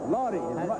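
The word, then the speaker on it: Lawdy: No, Lottie. What was it? Lottie. How do you spell that? Well, I guess L-A-W-D-Y, but his mother couldn't say Lawrence. She called him Lottie.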